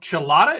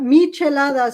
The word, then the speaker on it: michelada: have to do these they're called chalada is that how it's pronounced it's a michelada so there's a history